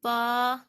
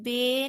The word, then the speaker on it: با: میں ادا کرنا ہے، یعنی الف با پڑھنا ہے، الف بے نہیں پڑھنا۔ کچھ لوگ ایسے ہیں جو الف بے پڑھتے ہیں، یہ پڑھنے کا بالکل بھی صحیح طریقہ نہیں ہے، اور اس کو پڑھنا